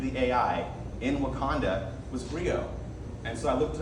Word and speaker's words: griot: And it's pronounced griot, by the way. I know I got thrown off by the T, but it's griot.